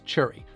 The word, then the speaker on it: cherry: Now, a lot of people might pronounce the berry in strawberry as strawberry, but something we do quite unique in New Jersey actually is the word cherry, which we pronounce as churry.